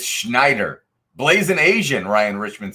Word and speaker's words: Schneider: Maddie, shake your head yes if I should pronounce it Schneider Electric. Schneider Electric. There we go. It's Schneider.